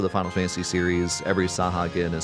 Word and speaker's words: Sahuagin: His name is based on the Sahuagin, I guess you could pronounce it, It's supposed to be Sahuagin, but instead it's Sahagin.